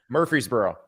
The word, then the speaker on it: Murfreesboro: near the ocean and Murphree Murphree is borough is that how you say it that is not how you think Murfreesboro Murfreesboro I can't pronounce that word exacerbate he is emphasizing the wrong syllable that's right what is the right way to say it Murfreesboro Murfreesboro Murfreesboro that's where people stay